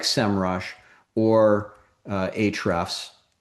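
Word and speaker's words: Ahrefs: like Semrush or uh Hrefs, the A is silent.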